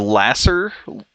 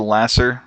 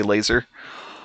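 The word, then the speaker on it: Lasur: very helpful and the Lasser laser Lawrence it's spelled l-a-s-u-r for the Lasser so that's why I didn't just say laser but and of course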